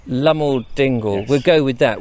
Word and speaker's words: Loamhole Dingle: Or as it's pronounced around here, Loamhole Dingle. Loamhole Dingle.